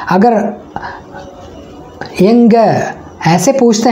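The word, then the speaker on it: எங்க: ठीक है, तो कहाँ को तमिल में हम कैसे बोलते हैं, यंग। ठीक है, यंग। आप फिर से प्रोनाउंस कीजिएगा यंग, ENGA, यंग।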